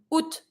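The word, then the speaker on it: août: focus on the rest so if you want to say AUST you know that the O and the U makes the sound U and you're going to be pronouncing the T in this one is the a that we're going to avoid so from out we're going to be saying UT so UT is August and then pretty simple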